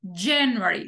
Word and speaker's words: January: en inglés Por ejemplo en inglés enero tiene la sílaba tónica en la primera Okay entonces decimos January lo mismo pasa con february